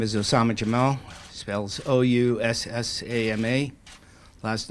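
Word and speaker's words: Oussama Jammal: Again, my name is Osama Jamal, spells O-U-S-S-A-M-A.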